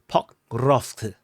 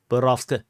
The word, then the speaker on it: Pokrovsk: People keep complaining the way how I pronounce it. Pokrovsk. Pokrovsk.